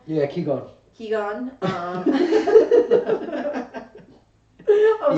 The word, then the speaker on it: Qigong: Yeah, Qigong.